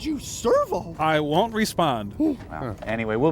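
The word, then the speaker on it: Sirvaux: it's not Servo anymore it's Servo it sounds the same only it's spelled s i r v a u x Servo we'll just grab that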